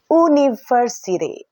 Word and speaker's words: university: University, but pronunciation yang sebenarnya adalah university. Jadi university adalah kata benda yang diawali oleh huruf vowel atau huruf hidup, namun pada pengucapannya yaitu berbunyi huruf konsonan.